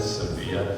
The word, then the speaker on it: Sevilla: Silla notice I spell I pronounce that Sevilla that's how it's supposed to Maria am I right